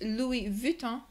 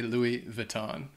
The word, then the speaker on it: Louis Vuitton: 10 Louis Vuitton and in French it's Louie vuon I don't said it wrong how how does that go again I don't know say it again vuon okay Lou vuon but I would say Louis Vuitton because but I I